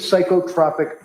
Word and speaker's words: psychotropic: What is psychotropic medication with adverse reaction? What does that mean? It's pronounced psychotropic.